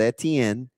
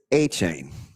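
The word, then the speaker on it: Etienne: So when he got to Clemson, nobody could say it the right way. So then when he got to Jacksonville, everybody said Etien and he just went with it. It is a chain.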